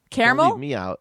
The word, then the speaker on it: caramel: uh in the northeast in the northeast caramel is usually pronounced with three syllables and an air sound on the first in the midwest and